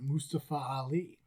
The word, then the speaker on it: Mustafa Ali: with uh mustafa because apparently that's how you pronounce it mustafa ali trust me that's how you pronounce it not mustapha nope it's not mustafa it's mustafa which i